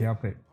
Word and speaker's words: Delpit: That's how you pronounce Dale Yeah, Pitt. Delpit.